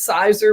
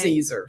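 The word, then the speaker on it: Siser: So it looks like you might want to pronounce it Caesar, but it's Caesar. So think salad, and you've got it.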